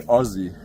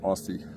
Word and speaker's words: Aussie: Well, we say Aussie, like Ozzy Osbourne in Australia, but I know Americans pronounce it Aussie.